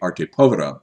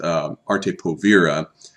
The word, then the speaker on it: arte povera: especially associated with the arte povera movement. Technically, I've been pronouncing it arte povera. Technically, it's arte povera, but I prefer the mispronunciation. It's easier to say.